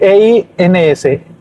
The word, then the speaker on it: eins: al final, en medio, la E junto con la I suenan como si fuera AI. Entonces la E cambia su significado por A. Entonces, eins se escribe E-I-N-S. E-I-N-S.